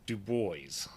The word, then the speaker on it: Dubois: it so in kind of a protest they pronounce it du booys and and it is still pronounced that way